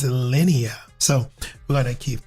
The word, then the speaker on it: Linea: No bro. It's not Linen. It's not Lena. It's Lennia.